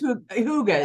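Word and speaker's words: hygge: Yeah, it's Hooga is how you say it. Yeah. Hooga?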